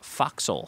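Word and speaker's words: fo'c'sle: is spelled fo ' C apostrophe s le pronounced foxhole says Mike number six what two animals are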